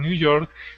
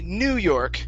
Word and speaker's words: New York: real quick so uh we don't say new york we say new york we stress the second word okay so i was